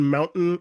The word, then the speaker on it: mountain: The T in mountain is pronounced with a glottal sound.